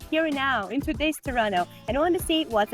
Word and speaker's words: Toronto: capital city that would be a tower but Toronto and this is how it should be pronounced the second apparently is silent you know